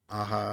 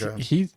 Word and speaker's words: Aja: It's Alejandro Aja. So like Aja.